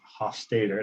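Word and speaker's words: Hofstede: garrett hosta uh carrick hof stater that's how you spell that's how you say this name uh it's weird but that is how you say it a psychologist he he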